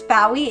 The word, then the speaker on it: Faoi: So for those who don't know me, my name is Fowy. It rhymes with Wowee.